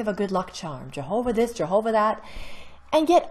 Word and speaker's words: Yahweh: it's something more like yahweh check it out some scholars feel that the original pronunciation was closer to yahweh rather than jehovah just how important is